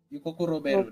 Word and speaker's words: Yukoku Roberu: Yukoku Roberu, that's his full name, sorry. Is it together or separate? Yes. Yukoku and then space Roberu. Okay, let me check. Yukoku Roberu.